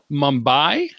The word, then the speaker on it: Mumbai: Mumbai?